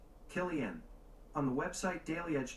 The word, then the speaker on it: Cillian: say Cillian Murphy's name Killian on the website daily edge died they say Cillian Murphy tempting it might be to call him silly and it's Killian gotcha okay thank you